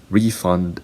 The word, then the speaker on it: refund: Refund and refund. So refund is a noun. Refund is a verb.